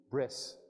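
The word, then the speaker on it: ברית: that word for Covenant breed if you pronounce that in Ashkenazi style Hebrew it would be bris just like Shabbat becomes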